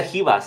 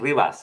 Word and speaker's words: Ribas: calm down chill listen it's hias the Brazilians they they they sometimes pronounce the r like an H so I got to